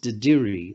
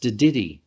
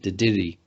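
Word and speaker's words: dadirri: It looks like it's pronounced Didiri. That's how most non-Indigenous people say it. But actually it's pronounced Didiri, as if the double R at the end is actually double D, Didiri.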